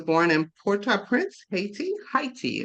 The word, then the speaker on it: Haiti: in Porta Prince Haiti heti is the correct way to say that I've been told at